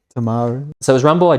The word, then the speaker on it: Timaru: I'm going to butcher the name of this town, but Timaru. Got to say it like a Kiwi. Timaru.